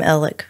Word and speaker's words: Alec: all different ways, but the people from Hampton call him Alec or Alec. Mm-hmm. No one calls him Alex there, really, even his family.